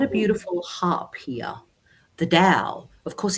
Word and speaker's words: Tao: it actually was the dow she's got a beautiful harp here the dao of course it's spelt t-a-o which is taoism taoism but we pronounce it with the d of course and it's a very